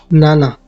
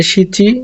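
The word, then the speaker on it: 七: এটা শিচি এবং নানা দুটোই হয়। শিচি উচ্চারণে ইচি 1 এর সাথে উচ্চারণে মিলে যায়, তাই 7 বা 7 এর উচ্চারণ যেন গুলিয়ে না যায়, এর জন্য স্পষ্টভাবে শোনার জন্য নানা ব্যবহার করা হয়।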